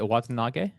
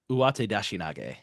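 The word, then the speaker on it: uwatedashinage: Is that Watanage? Close. 2 extra syllables in there. I'm going to give you a second before I hand it right back to Ryan. Give it to Ren. Go ahead. Uwate Dashinage.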